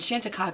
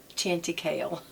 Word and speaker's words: Chantecaille: these a lot and shantika by the way is spelled it's it's french so it's c-h-a-n-t-i-c-a-i-l-l-e it looks like chanti kale but anyway um she